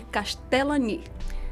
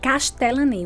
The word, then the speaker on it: Castellany: Então, a pronúncia é. Só que não para por aí. Não. É Castellani. Castellani.